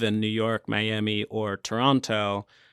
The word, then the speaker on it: Toronto: And especially if you don't live in New York, Miami, or Toronto, or Toronto, I guess, as they say. Yeah, they don't pronounce the T.